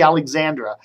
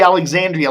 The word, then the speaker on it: Alexandria: thing don't you think Julie Alexandria that's her name not Julie Alexandra Julie Alexandria like the Town Alexandria is leaving the Washington